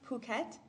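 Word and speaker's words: Phuket: have no time for this garbage sir it's pronounced puket it's in Thailand where nissa's family's from oh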